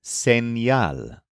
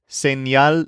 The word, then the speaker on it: señal: Next, we have the word señal, spelled S-E-N-Y-A-L.